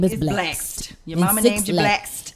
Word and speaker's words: Blxst: Baby, that's Blaxt. It's BLXST? Yes. Your name is Blaxt. Just like Six Lack. Six Lack and Blaxt.